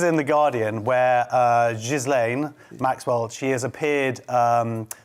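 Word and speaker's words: Ghislaine: is the trial of zizlane maxwell josh what is the guardian he's impressed with respect for getting i googled how to pronounce it it was gizlane it's a french name well and you want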